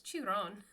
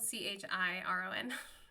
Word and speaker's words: Chiron: but he was like, "What's chew on?" instead of Chiron. So, Chiron is spelled c h i r o n, and my son and I were like cuz my son's a big Percy Jackson fan. He's like, "No, it's Chiron, Dad."